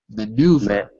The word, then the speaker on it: maneuver: over maneuver maneuver good so look at the IPA symbols meu maneuver maneuver that's it it's spelled in a funny way but it's pronounced like that okay Mr Mr Jose